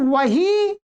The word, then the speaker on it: वही: यहां पर वही उस अर्थ में जो शब्द है वो तो वह है, और बही खाते जो पुस्तक के अर्थ में है वो है ब। ये ध्यान देना होगा आपको शुद्ध हिंदी। ठीक है, बही को तो बही बोलते ही हैं, परंतु वही को भी बही बोलते हैं, ये शुद्ध करना।